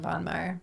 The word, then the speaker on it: Von Maur: We went to Von Maur, which I forgot how great. Von Maur. Von Maur, is that how you say it? We say Von Maur.